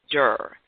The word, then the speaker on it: Derr: The person who's we're going to be learning from is named John Derr. That's John Derr, and Derr is spelled D-E-R-R.